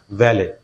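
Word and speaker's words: valet: Listen, এইটা টিটা শেষে, কিন্তু এই টিটা কিন্তু আমরা উচ্চারণ করব না ভ্যালে, ভ্যালে, ভ্যালেট, টি আমরা বলবো না, ভ্যালে, টিটা আমরা সাইলেন্ট করে দেব।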